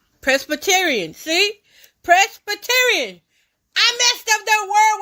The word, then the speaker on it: Presbyterian: pz B Rion when they break it down like that that helps me and that's what my memory will collect that and then I'll start pronouncing it like they pronouncing Presbyterian Presbyterian see Presbyterian I messed up that